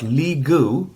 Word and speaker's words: Lee Gu: So let's see here on this tenant, I've got Lee Gu, who is unlicensed. Let's go ahead and give Lee a Cloud PC. I go in, click that. It rhymes, by the way.